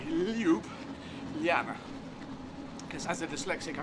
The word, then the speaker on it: Ljubljana: or anyone, any language, the J's turn them into Y's, and that's how you pronounce it. So L-Y, Ljubljana.